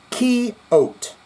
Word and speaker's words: Coyote: The year was 1990, and I was in a band called Ugly Coyote, pronounced Key-Ote.